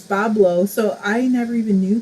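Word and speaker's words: Boblo: Rox just said, I don't even know how to pronounce that either, is Bablo, so I never even knew that.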